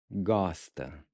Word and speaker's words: gosta: Você gosta. Você gosta. Você gosta. So the A at the end is pronounced like the in Cuba. Gosta.